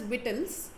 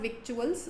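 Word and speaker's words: victuals: This is pronounced as whittleles. Okay, not vituals.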